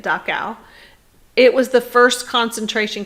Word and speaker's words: Dachau: at the top there dachau and that's how you say it dacao it was the first